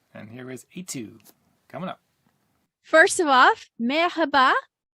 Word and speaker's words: Aytug: and i'm telling them the easiest way to pronounce my name is i2 the letter i and the number two okay uh i i